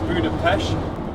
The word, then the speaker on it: Budapest: going to head for Budapesh uh and see what we can explore there. Although it is getting quite dark. So, you said Budapesh. Yes, it's it's basically got a silent T.